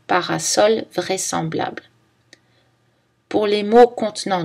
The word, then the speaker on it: parasol: Mais le S se prononce S dans parasol vraisemblable.